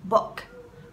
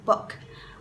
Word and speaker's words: book: Lưu ý cái từ book này. Từ này là âm u ngắn, alright? Không phát âm là book, no. It's not that, it's wrong. You have to say the short vowel. Cái nguyên âm ngắn là o. Book. Recipe book.